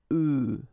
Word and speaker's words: œufs: if you listen carefully, the pronunciation is changing quite much because for the singular form it's œuf, but then for the plural form here it's œufs, okay?